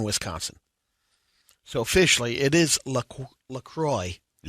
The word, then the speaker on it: LaCroix: so officially it is lacroix rhymes with enjoy not lacroix it's good stuff good